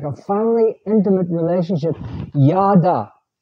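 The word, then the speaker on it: ידע: says at the top yada that's how it's pronounced yada and yada means knowing god that's that's what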